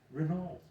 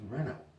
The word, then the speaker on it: Renault: All right, the famous automobile company that Americans say Renault. No, it's Renault.